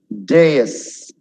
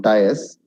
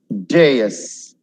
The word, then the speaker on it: dais: Dais. Not dais. Dais. Dais. Stage.